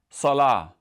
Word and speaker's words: salah: So for example, a very common Arabic word that ends with a ta marbuta is the word salah.